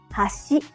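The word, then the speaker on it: 橋: it means Chopsticks but if you say hash it means Bridge let's hear the difference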